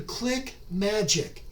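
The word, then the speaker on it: ClickMagick: competitive also invest in click magic click and then magic is spelled m a g i c k that's m-a-g-i-c-k click magic click magic keeps track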